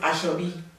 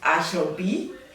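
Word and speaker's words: Ashorbi: We call it Ashabi, which is spelled A S H O R B I. Oh wow, that's interesting. We call it Ash B.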